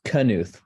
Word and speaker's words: Knuth: know how it's pronounced it's knuth with a hard K anyway she'd been using